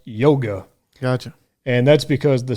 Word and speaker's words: Jóga: Now, it is a J, Ryan, but it's not Joga, though. It's pronounced Yoga. Gotcha. And that's because the song is a dedication to Björk's close friend, whose nickname was Yoga.